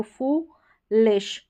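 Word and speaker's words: foolish: अब ये हो गया FOO, फूलिश, फुलिश, ठीक है। डबल ओ का जो है लंबा उच्चारण है, लॉन्ग प्रोनाउंसिएशन है, फुलिश हो गया।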